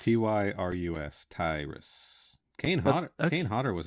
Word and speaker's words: Tyrus: fifteen top build you say his name is tyrus t y r u s tyrus kane kane hotter was a bartender in